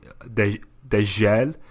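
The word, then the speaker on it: دجال: I was saying Dejel. Oh, but that's normal, bro. That's the North African way of saying Jim.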